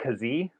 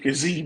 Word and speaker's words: Kazee: Devontae Kazee, I believe is how you pronounce his last name. I love that kid, Kazee.